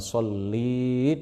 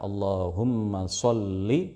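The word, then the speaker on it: اللهم صل: Oleh karena itu, kita tidak boleh membaca " Allahumma sholli" dengan memanjangkan huruf lam, dengan membuat huruf lam memiliki kasrah dengan vokal panjang seolah-olah ada tambahan "ya" setelah huruf lam. Sedangkan penulisan dan pembacaan yang benar adalah "Allahumma sholli," dibaca singkat.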